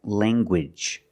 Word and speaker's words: language: hard G sound like language you have the nasal sound and the hard G wiji language I have one language